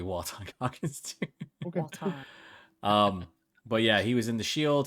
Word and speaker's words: Walton: his name Walton gogins that's how his name said yeah that's Walton said W no it's w it's literally walon um but yeah he